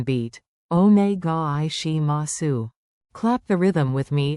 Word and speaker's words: お願いします: Onegai shimasu. Clap the rhythm with me and feel the flow. Count it out. Onegai shimasu. Say. お願いします。 In one smooth breath.